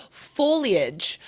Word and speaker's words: foliage: I'm not sure, but I mispronounced the word foliage for years.